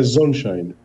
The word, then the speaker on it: Zonshine: paraa gente primeiro a forma correta de se pronunciar o seu sobrenome meu sobrenome é zonshine zonshine OK sonshine que bom que bom recebê-lo aqui na programação